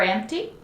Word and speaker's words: empty: Is the drawer empty? Let me see. Yes, the drawer is empty. There's nothing in the drawer. Remember pronunciation for empty. Don't pronounce the P sound. It's M T. Empty.